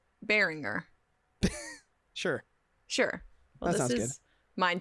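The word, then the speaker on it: Beringer: was 5.99 that's okay burgner like sweet james bergner no that's not how it's spelled bearinger sure sure this is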